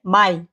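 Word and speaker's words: Mai: হবে ওকে এপ্রিল মাসকে কি বলে আর যেটা মে মাস এই মে মাসটাকে কি বলে উচ্চারণ করে জানেন এই মেটা হয়ে যায় মাই হ্যা মাই মে না মাই যদি আমরা কোথাও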